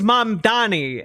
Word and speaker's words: Mamdani: I I just also just, you know, it's m it's mom Donnie. M A M like like it spell literally spells it out for him.